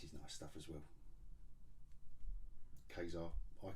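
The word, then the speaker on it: Ka-Zar: Kazar, I call him Kazar. It's not Kazar, is it? Or Kazar. Rhymes with Huzzar.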